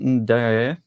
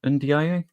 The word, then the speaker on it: Ndiaye: Iliman Ndiaye, I've pronounced that wrong. Ndiaye?